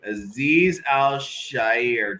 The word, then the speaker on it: Azeez Al-Shaair: Oh God, this name Azeez Al-Shaair to a 3-year, $30.